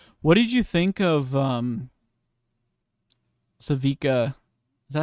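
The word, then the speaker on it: Sevika: What did you think of Savika? Is that how you say it? It's right, right, Yes, Savika.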